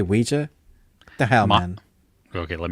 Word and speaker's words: Ouija: I see that word it's OA OA but you say Ouija the hell man okay